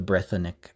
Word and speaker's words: Brythonic: And Brythonic as an adjective, meaning a Breton person, thing, object, etc., will be spelt with a C to show that it's an adjective, even though they're technically pronounced the same. So you can compare, for example, the word Litherenic Brythonic, meaning the Brythonic alphabet. You can see that the first word has a voiced G at the end because it's the noun,